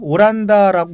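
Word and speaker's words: オランダ: 오란다라고 그렇게 번역을 했죠. 홀랜드를 일본 발음은 오란다라고 그래요?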